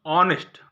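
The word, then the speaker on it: honest: अब देखिए ऑनेस्ट, ये तो यस शुरू है लेकिन हम इसको हॉनेस्ट नहीं पढ़ते हैं, ऑनेस्ट।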